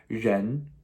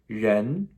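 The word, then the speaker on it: rén: this character is pronounced jen okay now this has a second tone the first second time we've seen in today's video okay that rising questionable what jen jen okay a little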